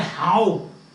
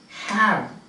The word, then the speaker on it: have: Don't say how. The pronunciation is have.